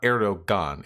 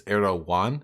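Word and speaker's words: Erdoğan: So to clarify, it's not Erdogan, it's Erdogan. Have I been fucking that up? You pronounce G's like Y's if I recall correctly.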